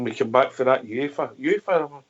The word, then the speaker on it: UEFA: Aye, those scenes when we come back for that UEFA, have I pronounced that right? UEFA, yep.